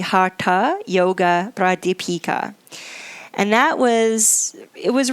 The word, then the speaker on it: Hatha Yoga Pradipika: a text called the hatha yoga pradipika that's the Americanized version of my pronunciation of it more correctly it would be the hata yoga bride Deepika and that was it